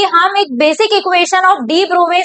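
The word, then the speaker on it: de Broglie: डी ब्रोवे concept की अगर बात करें तो इसे डी ब्रोगली नहीं पढ़ते, इसका सही प्रोनाउंसिएशन होता है डी ब्रोवे कॉन्सेप्ट।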